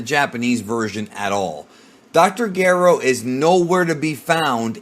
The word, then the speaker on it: Gero: In the English dub, they pronounce it Gero, but that's legitimately wrong. Dr. Gero.